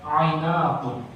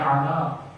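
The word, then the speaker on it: عناق: Nah tiba-tiba datang godaan dari perempuan yang bernama Ainaqun, pakai ain, na panjang, alif kemudian qaf. Ada yang membacanya Ainaq, ada yang membacanya Ana.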